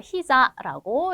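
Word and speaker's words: 膝: 히자라고 읽으셔야 되죠.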